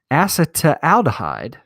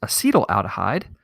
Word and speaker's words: acetaldehyde: to a molecule called acetaldehyde actually that's pronounced acetyl aldehyde and it releases bubbles